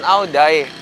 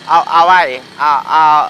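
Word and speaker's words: áo dài: Tapi ngomongnya bukan Aodai, Awai.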